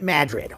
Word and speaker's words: Madrid: So yes, they actually pronounce it Madrid, always trying to be special.